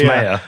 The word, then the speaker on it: Maier: Oh, I do it because I say Maier and you say it's Maier.